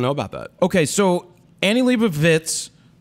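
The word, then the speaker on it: Annie Leibovitz: about that okay so Annie Libra vits that's how you say it not wits because there's a v in there I've had to correct myself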